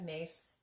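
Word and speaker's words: Myss: And I had posted a thing by Carolyn Miss. It's M-Y-S-S. Some people pronounce it Mace.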